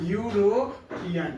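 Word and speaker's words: European: क्योंकि यूरोपियन को जब हम लिखेंगे हिंदी में तो यूरोपियन, यू से स्टार्ट हो रहा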